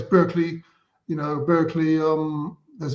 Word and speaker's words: Berkeley: to live in Barkley we pronounce it Barkley in the UK but it's of course the original Place Berkeley you know Berkeley um